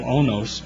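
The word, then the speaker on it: oinos: Testament it's in in the Greek it's called onos o i n oos is the way it's pronounced and uh that it was basically grape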